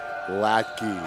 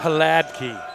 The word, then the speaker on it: Hladky: It's not a strong H. Oh. It's a soft, smooth Hladky.